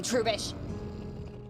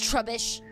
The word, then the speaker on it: Trubbish: You know never to wake a sleeping baby, Trubish. I know it's Trubbish. But right now, I want to mispronounce his name because he wants me to wake up a baby.